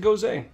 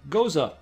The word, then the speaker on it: Gose: Oh, I always said Gose. Goza.